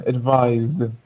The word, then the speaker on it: advise: No, they're not the same. No, different pronunciations actually. The noun is advice. The verb is advise. Yes. So different pronunciations.